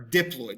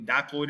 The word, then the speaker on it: diploid: Body cells, whether it be a person's brain, skin, to any type of body cell, they're called diploid or diploid, depending on who is saying this. They're both pronounced properly, diploid or diploid.